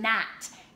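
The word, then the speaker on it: gnat: and then we have the GN which is a little bit more tricky because you don't see it as often but it's the word not GNA T so we have G and a T is not G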